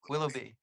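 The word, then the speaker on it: Willoughby: will will be uh am I am I pronouncing it right Willow be is that you say yes Willow be how do you think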